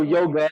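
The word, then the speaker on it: योग: forgive me I say yog because the true Sanskrit pronunciation is yog that's what I'm used to so yoga is like a British acation of it so excuse I'm not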